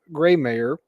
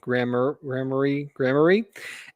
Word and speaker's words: Gramarye: The Council of Masters, a revered assembly of these voted lieutenants, would gather in the great fortress of Greymayer, how do we pronounce it? Gramarye, and late in the midst of the battles, where their decisions shape the fate of worlds.